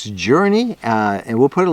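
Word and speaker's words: Journi: tell you about called journey journey and it's spelled j-o-u-r-n-i and it helps you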